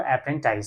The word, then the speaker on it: apprentice: है, एप्री अप्रेंटाइज, ठीक है, क्या पढ़ेंगे उसको, अप्रेंटाइज, सही प्रोनाउंसिएशन क्या है, अप्रेंटाइज, ठीक है।